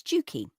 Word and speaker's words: Dukey: she wanted to be known as Dukey, to rhyme with Pookie, and somehow it stuck.